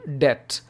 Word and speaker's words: debt: And if you are in such situation, you are in debt. Here, B is silent. Debt.